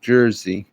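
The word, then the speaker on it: druzy: diamond it's not called a diamond it's called Jersey it's spelled d r u z y and if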